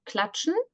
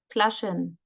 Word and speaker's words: klatschen: Same goes for Klatschen, Kalagen, Klaschen. So there's always something missing.